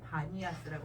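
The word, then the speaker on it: Banias: 섬기던 곳이라고 하는 의미에서 파네아스라고 하는 이름으로 불렀는데 그것이 이제 아랍 사람들이 발음을 하다가 밤에야스 바니아스라고 하는 이름으로 불러요 혹시라도 성기술력 관련해서 바니아스라고 하는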